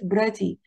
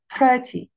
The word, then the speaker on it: pretty: Take care of the p sound. Please don't say it pretty. Say pretty, pretty. There is a bunch of air.